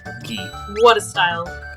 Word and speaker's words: gi: Gi. What a style. Gi. Is that GI then looking, or? No, gi, like martial artists.